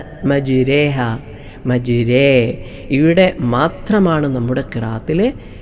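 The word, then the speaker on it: مجراها: മാത്രമാണ് ഇങ്ങനെ ചിരിച്ചുകൊണ്ട് ഉച്ചരിക്കേണ്ട സ്ഥലം അത് എവിടെയാണ് ബിസ്മില്ലാഹി മജ്രേഹ മജ്രേഹ മജ്രേ ഇവിടെ മാത്രമാണ് നമ്മുടെ കിറാത്തിലെ ചരിച്ചുകൊണ്ട് ഉച്ചരിക്കുന്ന സ്ഥലം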